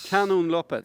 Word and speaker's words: Kanonloppet: Fredrik, we're part of, and I don't know if I'm going to pronounce this correctly because it is Swedish, Kanonloppet. Kanonloppet, Exactly.